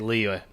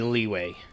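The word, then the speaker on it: Liyue: Leo shiing Leo okay why do the foreigners pronounce it Leo I'm going to go with leeway only those who have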